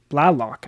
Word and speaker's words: Blalock: Ryan feltner Antonio sella and then Bradley block Blalock I believe is the pronunciation there He's listed as the five guy